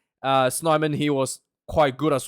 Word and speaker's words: Snyman: And I thought the locking combinations, John Klein, and apparently it's pronounced Snyman. Snyman, he was quite good as well.